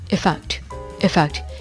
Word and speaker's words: effect: 자, 그리고 또 효과라는 뜻을 가진 effect 이것도 effect 이게 아니라 effect 약간 의 비슷하게 소리가 나죠. effect 이렇게 발음합니다.